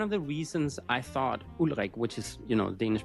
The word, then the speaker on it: Ulrik: I'm going to pronounce his name in Danish, but it is Ulrik.